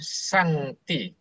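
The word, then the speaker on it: 上帝: Ini bacanya Sangti.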